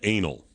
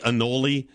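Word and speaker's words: Anole: 2003 his name is Anal spell it for him a n o l e I guess it could be anoli but darn it that's close enough to anal and you're gonna make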